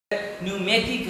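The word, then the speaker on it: pneumatic: न्यूमेटिक है तो पी के बाद एन आएगा तो पी साइलेंट हो जाएगा।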